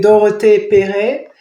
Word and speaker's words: Dorothee Perret: Well, I started it by saying Dope Press because my name is Dorothee Perret. Mm-hmm. And it's the two. In French, you say Dorothee Perret, and so it was